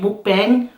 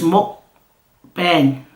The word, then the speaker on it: mukbang: I've been saying mukbang, but it's mukbang. This girl that just sub to me said that's how you say mukbang.